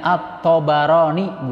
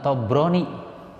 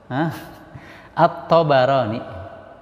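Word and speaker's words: الطبراني: Beliau selalu mengingatkan kami, bacanya At-Tabarani bukan Tobroni. At-Tabarani.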